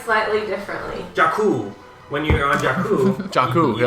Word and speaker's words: Jakku: Jakku, that's right, they say it like 5 times. Everyone pronounces it like slightly differently. Jakku.